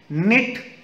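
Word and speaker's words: knit: के silent com यर B silent half L silent निट यर इ के silent Tom B silent and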